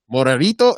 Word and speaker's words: Morenito: and I'm here with my brothers, Jay, Tyler, Morenito. How do you pronounce that, man? By the way, you said it right. Did I? Yeah. Morenito.